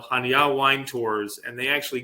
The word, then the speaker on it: Chania: And Chania, spelled in English, is Chania, Chania, but it's pronounced Chania.